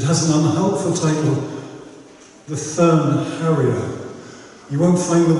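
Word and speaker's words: Thurn: So fern is spelled T-H-U-R-N for all the good that does you.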